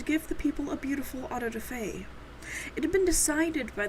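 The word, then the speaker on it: auto-da-fé: For clarity, I figured we could define autoday and I did look it up on how to pronounce it and this was correct.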